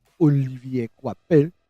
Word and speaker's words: Olivier Coipel: I'm sticking with what I'm pretty sure is the French pronunciation. Olivier Coipel.